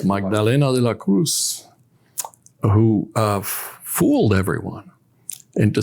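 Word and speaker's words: Magdalena de la Cruz: the book I believe the pronunciation is magdalina yes magdalina De La Cruz who uh fooled everyone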